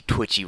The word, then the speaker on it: Twitchy: to do that you witchy Twitchy rhymes with itchy witchy huh you're not a